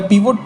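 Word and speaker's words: pivot: सो वो कैसे वर्क करेंगे, that would be दी पाइवट table या पिवोट टेबल भी कोई लोग उसको प्रोनाउंस करते हैं, राइट।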